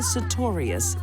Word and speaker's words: Sartorius: I think the best thing to be learned here is never marry a woman whose last name rhymes with notorious.